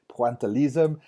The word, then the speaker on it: pointillisme: It is pointillisme. My French is correct there, pointillisme. But let's just be Americans and call it pointillism.